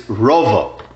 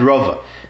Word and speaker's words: רבא: Whenever in the Gemara you see Reish Beis Hey, you read it Rabbo. And usually you're talking about Abay's uncle, Ravba bar Nachmani, Rabbo. When you see Reish Beis Aleph is Rova. And that's how it's pronounced, Rabbo and Rova.